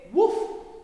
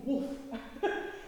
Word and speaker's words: wolf: be um some of the words you're not pronouncing properly okay woof okay it's wolf puffed pulled okay boiled I wasn't sure what